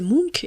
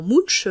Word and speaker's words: Munch: Ce cri dont je vous parlais, c'est celui de Munch, à prononcer Munch et non Munch, comme je l'ai fait pendant des années.